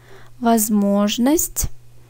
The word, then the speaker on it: Возможность: Возможность. Ortadaki o vurgulu. O yüzden o gibi okunuyor. Diğer ikisi a gibi.